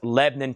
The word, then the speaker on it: Lebanon: Here it's commonly known as Lebanon. It's Lebanon, Tennessee. It's one syllable.